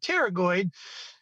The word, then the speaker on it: pterygoid: the t or the the p is silent and pterygoid for for in humble